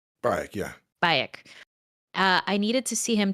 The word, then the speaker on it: Bayek: He says, Origins is the only Assassin's Creed I have done to completion due to your performance as I keep mispronouncing this. Bayek, yeah. Bayek.